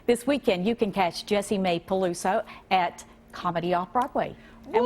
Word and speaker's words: Jessie Mae: This weekend, you can catch Jessie Mae Peluso at Comedy Off-Broadway. And we're so glad that you're here. Oh, yeah, You pronounced my no name kidding.